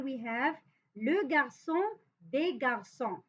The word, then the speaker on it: garçons: So for here, for example, we have le garçon, des garçons. But we don't pronounce this S.